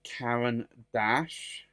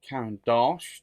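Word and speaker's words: Caran d'Ache: ink in here is Karen Dash or count Dash depending on how you want to pronounce it and it is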